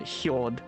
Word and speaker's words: Jord: Spelt with a J, so Hjord.